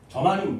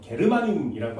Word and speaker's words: 저마늄: 저마늄, 니는 저마늄 먹어요? 일본식 발음으로는 게르마늄이라고 합니다.